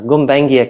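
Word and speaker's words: Gumbaynggirr: I'm in Mumbai and she's on gumbangia country is the the correct pronunciation for for that um uh near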